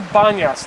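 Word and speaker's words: Banias: called the Banas now I didn't say pasas just now I said Banas why because this area was later on taken on by the Muslims and within the Arab tongue they cannot pronounce p p comes out B so therefore we have Bas instead of pasas going back in history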